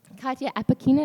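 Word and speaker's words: Katya Apekina: we'll have a conversation about um these texts Kya Aina is that how you pronounced your last name yes Aina uh is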